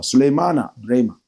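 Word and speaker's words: Sulemana Braimah: Let me pronounce the name proper. Suleimana Brema believes that the government's recent measures against the illegal small-scale mining Galamsey menace will not yield any results.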